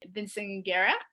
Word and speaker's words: Vinciguerra: I am excited today because I have Miles Vinciguerra. Did I Yep.